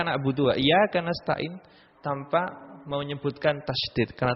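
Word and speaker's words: إِيَّاكَ: ini tidak sah juga harus memperhatikan tasdid yang ada di al-fatihah membaca i iaka nabudu iyaka ya di sini ada tasydidnya iyaka tidak boleh dibaca iyaka na'budu iyaka nastain tanpa menyebutkan tasydid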